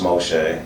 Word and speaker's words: Moshe: In Hebrew, it's pronounced Moshe. Moshe.